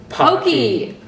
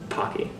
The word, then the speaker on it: Pocky: Pokey! Pocky. Pokey. We'll vote in the comments below. How do you pronounce it?